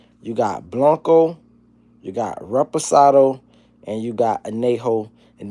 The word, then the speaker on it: reposado: Listen, it's called reposado. Not respiration or repro man. It's called reposidado. That's how you pronounce it.